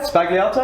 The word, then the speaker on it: Sbagliato: It is the Negroni Sbagliato. And that's what we're making today, right? Absolutely is. And did I pronounce it right? You've got that right, yeah. Sbagliato, S-B-A-G.